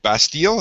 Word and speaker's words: Bastille: was number five for brad the draw by bastille is that how you say it yep all